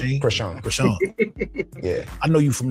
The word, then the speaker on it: Chrisean: That's how you pronounce the name, Chrisean? Chrisean.